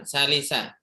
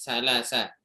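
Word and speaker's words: ثلاثة: Ini kalau dibaca salah si asyara apa salah sa asyara? Jawabnya Salim, afan, Salisa. Salisa. Salisa asyara. Ya, bacanya seperti itu.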